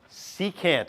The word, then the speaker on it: secant: Secant, it's pronounced. I know it says SEC, that's just the short form.